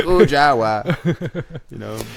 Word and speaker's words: Kujawa: _ Kujawa with the it's just hard to say your name in English accent, 3 syllables. Yeah, exactly. Kujawa.